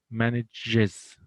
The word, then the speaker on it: manages: فنقول manages. So look at the difference in pronunciation.